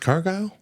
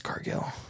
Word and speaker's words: Cargill: U, is it pronounced Cargle? It's Cargill. Okay. It's a double L at the end.